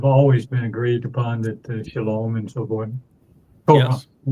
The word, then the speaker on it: Shalom: And the O sound in Shalom, where does that come from? It's from the Wa. O-W. The Wa. It's the Wa. Yeah, the Wa in Hebrew is pronounced either as a O or U. And the overwhelming percentage of the time, about 90% of the time, it's pronounced as O, as in Shalom.